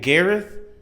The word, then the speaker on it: Gareth: Gareth?